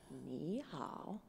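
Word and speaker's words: 你好: you're on an elevator the first part the knee is like said very much like this knee right and you're going up like a question knee and then how goes down and then up again alright let's put those two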